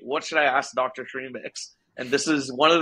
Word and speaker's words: Srimix: Yeah, so the idea is that Srimix rhymes with remix.